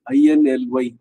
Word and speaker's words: inly: அதே மாதிரி நேற்று 2வது சாவித்திரி படி மாதிரி INLY INLY எப்படி உச்சரிக்கணும் இருக்கான்னு தெரியுமா? இட்லி மாதிரி ஞாபகம் வச்சுட்டேன். அந்த இட்லி தான் கரெக்டான உச்சரிப்பு.